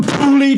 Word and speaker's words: poorly: Bearing in mind that people from Teesside pronounce the word poorly, as in P-O-O-R-L-Y, I can't say it properly because I'm from Teesside, pronounce the word poorly, P-O-O-R-L-Y, as pooley, then this chant just